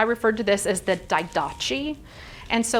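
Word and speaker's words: Didache: the daidachi and so last week i thought i wonder if i pronounced that correctly so i actually went through and listened to like 17 videos on how to pronounce it and what i thought was very interesting was in british english you were supposed to pronounce this word daidoki and this was very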